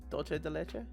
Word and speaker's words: dulce de leche: Yeah, basically that C is pronounced like an S. Oh, you know what? Yeah, you're right. Yeah. And U, pronounce it more like a light U versus an and you're fine. So Dulce. Dulce. And it's a U, not an O.